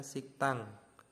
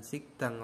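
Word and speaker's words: 식당: hukum bacaannya seperti ini harusnya sigdang eh tulisannya sigdang tapi dibacanya siktang siktang ya bukan sigikdang lagi tapi siktang Nah di sini ada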